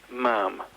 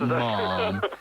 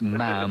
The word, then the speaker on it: ma'am: It's not Mom, it's Ma'am. It is, I know, it's a tough one to remember, I know. Ma'am rhymes with ham.